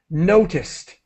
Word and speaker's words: noticed: mean to do that when you add the D you pronounce the Ed as quickly as possible as a t noticed okay yes do you